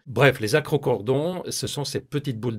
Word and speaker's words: acrochordon: vous parler des acrocordons je sais c'est difficile à prononcer d'ailleurs il y en a qui disent acrochordon vous me direz dans les commentaires comment vous le prononcez vous bref les acrocordons ce sont ces petites